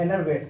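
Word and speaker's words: enervate: एनर्वेट, एनर्वेट इसको पढ़ेंगे, एनर्वेट प्रोनाउंसिएशन इसका होगा एनर्वेट।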